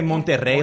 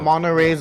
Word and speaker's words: Monterrey: Can you say Monterrey like the rest of us, Please, please? Monterrey. I say Monterey. Roll your R's too. Monterey's up Northern California.